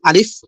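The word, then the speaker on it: ألف: হবে আরবি অক্ষরগুলো কিভাবে আমরা শিখতে পারবো শুদ্ধ উচ্চারণে। তো প্রথম যে অক্ষরটা ভাই আলিফের পরে আপনার মাউসটা দেন হ্যা মাউসের ইটা প্রথমে তো প্রথম প্রথম অক্ষরটার নাম হলো আলিফ এতে কোন টান হয় না ঠিক আছে আলিফ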